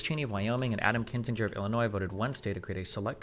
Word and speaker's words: Kinzinger: Cheney and Kininger uh Kininger have each faced backlash for highrofile criticism of Trump. Okay, it's pronounced Kinzinger. Kinzinger.